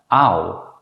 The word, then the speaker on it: au: These are usually pronounced as a compound vowel, ow. This vowel also appears in English. In fact, it's the same vowel as the English word out.